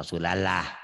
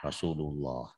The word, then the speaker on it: Rasulullah: Rasulullah, jangan Rasulallah, Rasulullah.